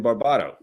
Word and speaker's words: Barbato: And next up, we have Barbato. Did I pronounce that correctly? Yes. Yeah, Barbato. Yeah, very good. Yes. Barbato, potato. here.